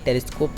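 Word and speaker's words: telescope: कभी भी किसी भी वर्ड के अंत में आपको ई दिखे ना तो ई आपका साइलेंट होता है वहाँ पे, जैसे कि ये टेलीस्कोप शब्द है उसके अंत में ई है तो ये आपका साइलेंट होगा।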